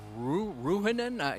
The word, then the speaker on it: Ruinan: Is it Ronin? How do you say the last name? Uh Ruinan. Yeah.